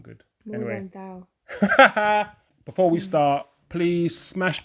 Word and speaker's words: Morgenthau: It's more than thou. More than thou. Yes. Morgan Freeman. I love that. That's not good. Morgenthau.